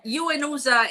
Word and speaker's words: UNOOSA: Yeah, UNOSA is the way in which we pronounce it.